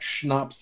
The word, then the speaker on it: schnapps: I said it last time, and I will continue to say it, that schnapps is one of my and can we say it properly?